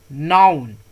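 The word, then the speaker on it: noun: तो इसको क्या पढ़ेंगे, नाउन। नाउन, ओ का साउंड अ की तरह आएगा, नाउन, ठीक है।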